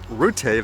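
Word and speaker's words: Rutte: more pictures like what dutch farmers warn mark rutay that's how you say it the protest will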